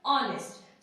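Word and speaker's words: honest: अब बात करते हैं किसकी, ऑनेस्ट की, किसकी बात करते हैं, ऑनेस्ट की, ठीक है, ऑनेस्ट। सो गाइस एक चीज ध्यान दीजिए, ऑनेस्ट में क्या है, एच क्या है, साइलेंट है, ठीक है।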